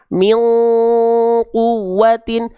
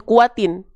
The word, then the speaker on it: quwwatin: Quwwatin, quwwatin. Ya, tapi teman-teman, kalau teman-teman ikhfanya belum sempurna, ya, kadang-kadang bahkan teman-teman masih bacanya min kuatin. Itu salah, tapi bukan kesalahan yang besar.